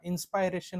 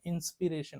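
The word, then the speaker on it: inspiration: एन जर जोडलं तर त्याला इन्सपायरेशन म्हणत नाही त्याला इन्सपिरेशन म्हणतो काय म्हणतो इन्सपिरेशन सो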